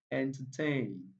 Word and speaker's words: entertain: Entertain, entertain, entertain. Yes, the third syllable there takes the primary stress.